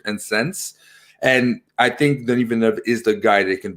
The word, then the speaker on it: Denis Villeneuve: First of all, no one can pronounce his fucking name. His name, okay, if you're listening, his name is Denis Villeneuve, okay?